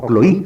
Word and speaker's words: Cloé: comunidad, que se llamaba Cloé, o Cloí, los griegos modernos pronunciarían Cloí.